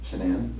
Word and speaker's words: Shanann: And I don't want to pronounce her name wrong, Shanann? Shanann? Shanann, okay.